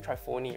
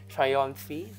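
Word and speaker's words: Trionfi della Luna: I keep pronouncing this wrongly in all. Trionfi. I keep saying Trifoni, right? Trionfi De La Luna.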